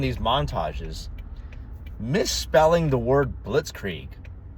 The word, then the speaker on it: blitzkrieg: And yet she can't even pronounce the word blitz creek properly.